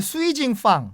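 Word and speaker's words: 水井坊: 발음으로 수이징팡, 네. 수이징팡이 수정방인데 한국인들에게 대중적으로 많이 알려진 술입니다.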